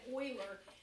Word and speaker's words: Euler: you to get his name in your head Euler it's pronounced like oh I le AR but has